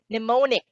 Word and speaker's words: mnemonic: still a tsunami b mnemonic c psychology d schizophrenia the answer is very obvious three out of these four choices would have silent letters in the start obviously those are letters